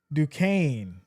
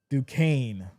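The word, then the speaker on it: Duquesne: Uh JJ says, "You say it like Dukane." Okay. Okay, I get it now. Dukane. So the S is silent.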